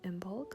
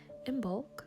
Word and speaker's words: Imbolc: I'm a little late posting this video, but I'm still immersed in the energy of Imbolc, so better late than never. Imbolc, sometimes pronounced Imbolc, is the Sabbat that marks the halfway point between the winter solstice and the spring solstice.